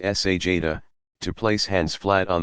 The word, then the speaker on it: sajda: Sajda, pronounced sajda, to place hands flat on the floor at shoulder width.